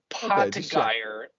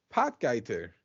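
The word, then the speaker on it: Potgieter: his name it is but poy is not how you pronounce it pot guer that's what I'm call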